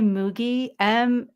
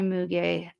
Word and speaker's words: Muegge: Kai Muge, it's German with an umlaut, but if you spell it in English, it's Muegge, Kai Muge.